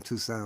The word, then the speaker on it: Toussaint: And I thought, that's Toussaint. kinda Oh, weird. you mean Toussaint. with the accent on the front? Yeah, and the two, and then Saint at the end, as opposed to Yeah.